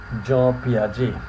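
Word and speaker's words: Piaget: here uh here you see that is the pronunciation of this swis um psychologist Jo Jo P Jo P okay Jo P was switch psychologist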